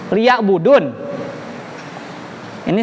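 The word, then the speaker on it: ليعبدون: Padahal bukan liya budu, tapi liya buduni.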